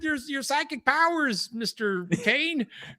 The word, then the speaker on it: Khayon: the week is that Kane or Kion, I think it's Kane is what they say. You pronounce my name Kane.